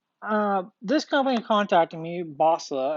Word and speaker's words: Boslla: this company contacted me basler i believe is how it's pronounced about uh doing a